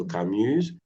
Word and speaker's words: Camus: Camus, Yes, it's Camus. a noun. C'est un nom propre. C'est pas un noun. Can you say aucun? Aucun. Aucun. Donc, j'ai lu plusieurs romans de Duras, quelques romans de Camus, tous les romans de Modiano.